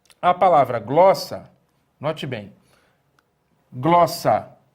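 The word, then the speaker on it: γλῶσσα: Então, aqui você tem a palavra glossa. A palavra glossa, note bem, glossa, ela tem duas sílabas, glossa, e o acento está justamente na penúltima sílaba.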